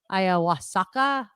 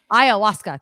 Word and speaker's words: ayahuasca: This would be for magic mushrooms and ayahuasca. I don't know if I'm pronouncing that right. Ayahuasca.